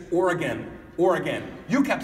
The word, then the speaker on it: Oregon: Now, I kept talking about it, and I kept Oregon and Oregon. I don't know if you know this, but it's not pronounced Oregon.